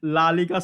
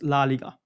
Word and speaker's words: La Liga: is La La League I mean it's La Liga sorry not La La La Liga so every time I to pronounce this one name I La La Liga but it's La Liga okay okay then we